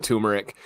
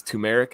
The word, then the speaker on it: turmeric: coffee that's based with turmeric and uh and joe always corrects this what's the what it's tumeric right instead everyone says turmeric but it's tumeric i think i actually